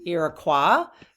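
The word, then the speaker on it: Iroquois: that okay but I will call them um iqua because that is the fren French pronunciation iqua iqua okay um or the H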